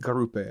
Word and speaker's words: Garupe: Garupe, that's how I say it as well. Yes, I believe that's how you say it.